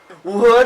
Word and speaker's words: what: What is that noise? And just remember the pronunciation. In English we have the schwa sound. This is the sound. So instead of what, it's what. Which, what.